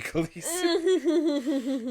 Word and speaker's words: Khaleesi: But I know that everyone who's read the book and seen that word is going to pronounce it Khaleesi. Yeah. So it just gets to be Khaleesi.